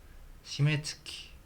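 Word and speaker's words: 締月: 시메츠키라고 읽는군요. 마감을 결산을 시메츠키 시메가츠가 아니라 시메츠키라고 읽는군요.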